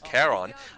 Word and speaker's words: Charon: I believe they're pronounced Charon, not Charon. Someone corrected me in correct Greek. It is Charon, but I think you were saying them correctly before.